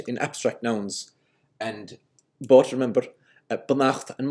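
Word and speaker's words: beannacht: the normal abstract ending, which is why we still say banacht and malacht with the stress on the second syllable.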